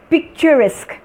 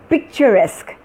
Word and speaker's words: picturesque: And this word is picturesque, picturesque, picturesque.